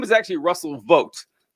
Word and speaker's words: Vought: to well what you were discussing with Russell vot yes you're cor you're correct his name is actually Russell vote that it's VA it is